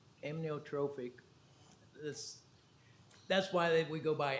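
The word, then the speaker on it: amyotrophic: going to ask you for the uh correct pronunciation. Is it amnotrophic? Close. Okay, say it for me. Amnotrophic. This that's why we go by ALS or why they go by ALS.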